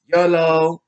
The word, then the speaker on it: YOLO: Plus they wanted to have it fun, like YOLO, to live like to basically make like that. You know, you only live once as the acronym for YOLO, and mellow yellow basically rhymes with YOLO, so they basically did that.